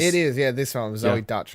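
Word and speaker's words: Deutch: Yeah, this one, Zoe Dutch or whatever her name is. Zoe Deutsch. Yeah. Deutsch. I believe that's how it's pronounced.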